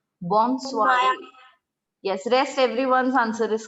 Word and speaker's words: bonsoir: The next one goes bonsoiré. Bonsoiré. Ma'am, what? Bonsoiré. Ma'am, can you please spell it again?